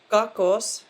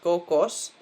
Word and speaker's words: Кокос: Kakos, not kokos, but kakos.